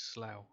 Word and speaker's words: Slough: There's a place That's called slow. Slough. Yeah, that's slow. It's not. It's Slough. Slow. Just like plow.